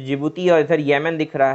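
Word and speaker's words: Djibouti: ये जो जिबूती है, हाँ डी साइलेंट है इसके नाम में, ये जो जिबूती है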